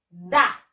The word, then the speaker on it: the: Y el tercero es da. Repeat after me. Da. Se escribe T, T-H-E y se pronuncia da.